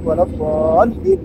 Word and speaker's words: الضالين: Dal itu mad lazim musaqqal kalim. Bacanya harus 6 harakat. 6 harakat menurut cepat atau lambat yang kita baca. Kalau kita baca ghairil maghdubi alaihim waladdallin, dan 6 harakat.